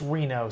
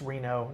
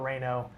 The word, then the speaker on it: Reno: Blaze, it's it's Reno. Somebody said Webster Smith, so we were pronouncing it incorrectly. Thank you, Webster, for that. It's Reno, not Reno.